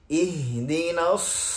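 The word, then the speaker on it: اهدنا: এখানে হায়ের যে উচ্চারণটা হা, হি, হু, এই হায়ের ভয়েসটা মূলত এরকম হবে। হা একরকম আর হা আরেক রকম। হা উচ্চারণ করার সময় আপনি একেবারে মুখ খুলে বড় আওয়াজে উচ্চারণ করবেন, কিন্তু হা উচ্চারণ করার সময় গলাকে হালকা একটু চেপে রেখে তারপর উচ্চারণ করবেন। এই দুটো পার্থক্য হচ্ছে দুইটা হায়ের ক্ষেত্রে।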